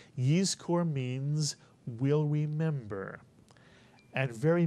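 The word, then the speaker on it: יזכור: So the first syllable would look like this, and it would be pronounced Yiz, Mitsuyan, Yiz. And the second syllable is easy, Kor, Mitsuyan. Put the word together, you get Yiz Kor.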